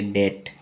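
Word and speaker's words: debt: बोलते हैं डेप्ट डेप्ट बी का प्रोनाउंस करते हैं नहीं सिर्फ बोलेंगे डेट अब डेट का मतलब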